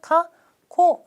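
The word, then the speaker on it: 過去: 이렇게 써요 과거 권위가 카 코 라고 해서 한국어 발음이 거의 비슷하죠 과거는 카코 지나다 과거의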